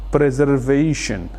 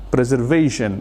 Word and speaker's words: preservation: Jadi penekanannya ada di v-nya, preservation, preservation yang artinya adalah pelestarian.